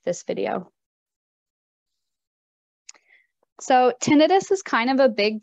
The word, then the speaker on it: tinnitus: tinnitus and not tinnitus because it's not an inflammation an itis it is tinnitus and it is any